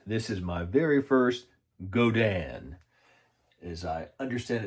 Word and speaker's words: Godin: This is my very first Godin, as I understand it's supposed to be pronounced.